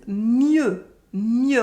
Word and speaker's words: mieux: Better for bien is mieux with a silent X.